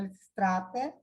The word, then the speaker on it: Lisístrata: Não é Lisístrata, Lisístrata é em português, em grego é Lysistrata, em português é Liberatropa, né?